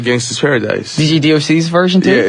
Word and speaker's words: Gangsta's Paradise: him who did it now to pronounce gangsters paradise for gangstas paradise James gangster without the art gangsta okay just making sure cuz no one wants to mispronounce the name of a song and we need to drop the are there's no are in the title yo instead of the ers and a at the end yes alrighty now this